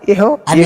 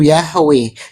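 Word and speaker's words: Yahweh: Bang Suma itu bukan pengucapan yang e kurang tepat. Yang paling tepat pengucapannya itu Yahwe.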